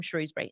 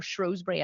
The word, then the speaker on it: Shrewsbury: Phil, and he says, I'm Phil from Shrewsbury. Nice to meet, or Shrewsbury, I think it's pronounced in the UK, even though it's spelled Shrewsbury.